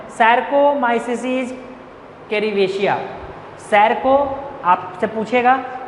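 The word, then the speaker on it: Saccharomyces cerevisiae: हम लोग यहाँ पे किसका यूज करते हैं, वेवर ईस्ट, जिसका नाम है सैरकोमाइसिस कैरिवेशिया।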